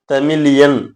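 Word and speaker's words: तमिलियन: உச்சரிப்பு பிள்ளைன்னு அர்த்தம் இல்லைங்க ஹிந்தியில சொல்லும் பொழுது தமிழன்றது தமிழியன் அப்படின்னு தான் சொல்றாங்க அதனால அதுக்கு தகுந்த மாதிரி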